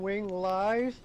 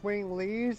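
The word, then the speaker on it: Winglies: question you know how you were calling them wing lies wing lies yeah well um oh for piss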